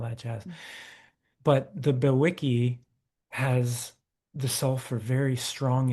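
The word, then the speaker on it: bewickii: Um, but there's, I think, Cygnus Bewiki, if I'm pronouncing it Yes. correct. Yep, There's that's it.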